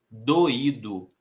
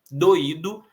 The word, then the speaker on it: doído: né, a tônica, e doído também temos hiato, o I estando sozinho na sílaba e sendo a sílaba mais forte.